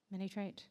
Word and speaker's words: Minitraité: Minitraité?